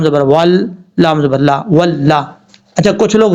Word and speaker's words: واللہ: اگر آپ میں سے کوئی پڑھتا ہے واو لام زبر ول تو غلط طریقہ ہے، شد کو پڑھیں گے، اس کی ہاف حالت کو پڑھیں گے ہجے کرتے ہوئے، واو لام زبر ول، اس طریقے سے۔ اب لام کے اوپر زبر ہے، زبر بھی پڑھا جائے گا، لام زبر لا، واللہ، ذال یا ذی، نون